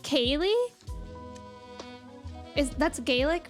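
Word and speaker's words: ceilidh: try to pronounce that how's that pronounce Kaye that's pronounced Kaye is that's gelic right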